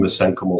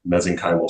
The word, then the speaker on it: mesenchymal: Let's call them mesenchymal stem cells or mesenchymal stem cells. You can pronounce it either way.